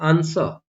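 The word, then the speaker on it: answer: common word होते हैं जैसे आंसर यहां पर भी डब्लू साइलेंट है टू यहां पर भी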